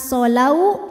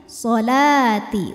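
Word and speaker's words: الصلاة: As-salati. Wawunya ini tidak kita baca, jadi lamnya tetap 2, bukan solau juga bukan ya. Solati, wawunya tidak dibaca.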